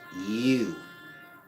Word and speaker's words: YHWH: YHWH is pronounced you.